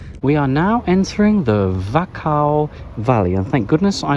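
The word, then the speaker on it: Wachau: a river cruise we are now entering the vacao valley and thank goodness I looked up how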